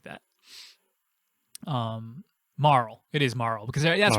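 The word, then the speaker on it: Marle: name as that and i was wondering how to pronounce that and that's how you pronounce it marl um but she makes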